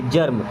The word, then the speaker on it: germ: GERM, तो जी से बनेगा ग या जा, एम से बनेगा माँ और ER है तो ऐसे आर लगा दे, जर्म, क्या हो जाएगा जर्म।